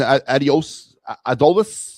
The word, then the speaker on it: Adolis: So with the changes with Justin Crawford and Adolis, that's how you say his name, Adolis Garcia, the absence of Nick Castellanos, and I'm